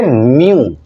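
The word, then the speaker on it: mu: अब इसमें म्यू, आप इसे कैसे प्रोनाउंसिएट करेंगे? म्यू, MEW, म्यू.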